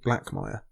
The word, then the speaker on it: Blackmire: And there's also a house called Blackmire. Rhymes with Blackfire.